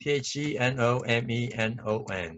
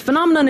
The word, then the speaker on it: phenomenon: And this time it's P-H-E-N-O-M-E-N-O-N. How do you pronounce this word? So let's check out how native speakers pronounce this word. I hit say it. You have 8,710 results. It's this phenomenon in which our unconscious motive.